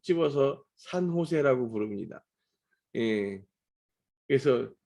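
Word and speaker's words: San Jose: 곳이라고 하는 데가 이제 세나제이라고 하는 데인데요. 이제 미국 사람들은 거기를 세나제이라고 많이 부르고 한국 사람들은 거기를 콕 집어서 산호세라고 부릅니다. 그래서 산호세를 영어로 발음하면 세나제이 이렇게 불러요.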